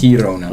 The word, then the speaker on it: Girona: Girona.